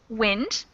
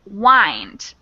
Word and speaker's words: wind: weather right and that has a short i sound so if you look over at the pronunciation you say you can see it has short i the next one is wind it's a verb it's a twisting motion as with a clock spring so when you wind your watch it has that little knob on the side and you wind it but we pronounce it with a long i sound so the second one